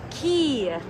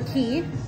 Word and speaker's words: Quay: It's pronounced Key? Yeah. Key. I said Quay. I always say, I know. I think their bio literally says not Quay. Our good friend Cole Misick has modeled for Key, although I don't see any pictures of him.